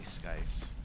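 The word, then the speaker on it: SKSE: No, people phonetically spell S-K-S-E. I just say Skice.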